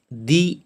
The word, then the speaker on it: the: এগুলোর আগে অ্যান বসে, তো এখানে আমরা উচ্চারণ করব দি এগ, দি অ্যাপেল, দি আওয়ার, এটা দি উচ্চারণ করব। আর যেটা কনসোনেন্ট হবে, যেখানে এ বসবে, সেটা উচ্চারণ করব দা, দা পেন, দা স্কুল, এইভাবে।